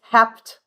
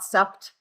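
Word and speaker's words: hepta: Heepa is seven. I don't know if you've taken French sept. I know they don't pronounce it that way but sept. But it's hept, not sept.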